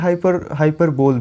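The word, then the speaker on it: hyperbole: तो दोस्तों ये होता है हाइपरबोली, हाइपरबोली, हाई, उसके बाद प पे स्ट्रेस है, ये देख रहे हो प पे में रुकना है, हाइपरबोली, हाइपरबोली, हाइपरबोली, ठीक है। तो आपको हाइपरबोल नहीं बोलना है।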